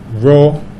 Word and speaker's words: Ro: Ro, Kemet. Right? And the pronunciation Ro is tied to Coptic, which is a later stage of the language where they still have Ro.